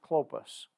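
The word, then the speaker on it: Cleopas: whose name was cliff clopas that e is silent in there and his it's pronounced clopas answering said unto him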